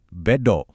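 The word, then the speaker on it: ベッド: Dalam bahasa Jepang kita sebutnya beto. Bedo. Gampang banget kan ingatnya? Soalnya ini dari kata bet dalam bahasa Inggris.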